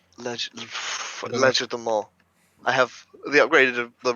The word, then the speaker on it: Legerdemain: Legerdemain. Legerdemain.